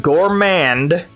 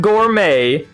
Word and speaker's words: Gourmand: and yes I'm saying Gourmand not Gourmet it's called the Gorman Mark not the Gourmet Mark sorry I just got